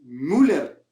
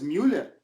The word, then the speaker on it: Müller: De por qué pronuncias Neuer cuando es Neuer, ¿no? Manuel Neuer. ¿Por qué dices Neuer. si es Müller, ¿no? Thomas Müller, ¿no? O Müller, no, no es Müller, es Müller.